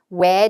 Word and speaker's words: where: when은 은 발음이 나오는데 이 특히나 모음 다음에 있는 얼 발음을 안 해줄 때 왜 하고만 들려주면 when이 있었나?